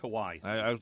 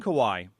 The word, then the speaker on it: Kawhi: so anyway our cousin Kawhi he Leonard just Kawhi brother y-ye why he doesn't rhyme with a status I know kawaii that's why I called